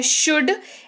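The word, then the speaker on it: should: की जो की है शुड एस हा ओ यू ल दी शुड अगेन ल साइलेंट है दी वाला रूल यहां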